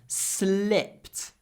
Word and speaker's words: slipped: the ice SLI slipped it's not sleep sleep with your mouth open slipped slipped it's all about